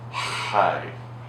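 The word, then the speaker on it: חי: word it's high it's they pronounce it high but it lets you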